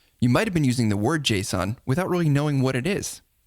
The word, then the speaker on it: JSON: Well, some people pronounce it JSON, and other people pronounce it Jason, like the name. But you know what? It doesn't matter. Even Doug doesn't care. There's a lot of argument about how you pronounce that. I strictly don't care. I think probably the correct pronunciation is JSON.